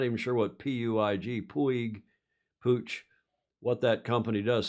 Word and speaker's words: Puig: That will be the Pooch, is how that's pronounced, I'm told. Pooch is the sponsor. I'm not even sure what Puig, Pooch, what that company does.